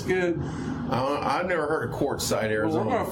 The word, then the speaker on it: Quartzsite: So it's not with a C. Yeah. Quart, like a quartz watch, Zeit.